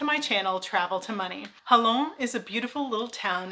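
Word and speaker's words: Jalón: But in modern day, the pronunciation became the J sound in Spanish, which sounds like an H in English. So either way you spell it, we say Jalon.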